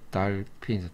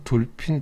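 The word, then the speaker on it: dolphin: 자, 첫 번째 단어는 달핀이죠. 달핀. 우린 돌핀, 돌핀 그러는데, 원래 발음이 이렇게 아 사운드죠. 달핀. 여기는 F 사운드, F죠. F 사운드, 달빈.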